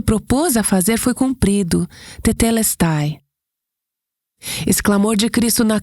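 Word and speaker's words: τετέλεσται: A palavra, e eu ouvi essa palavra pronunciada de várias maneiras, mas eu vou pronunciar como a ouvi mais frequentemente, que é tetelestai.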